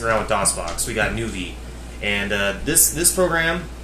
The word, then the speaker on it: Nuvie: Pronounced nuvie is an open source engine for Origin's games Ultima VI, Martian Dreams, and the Savage Empire.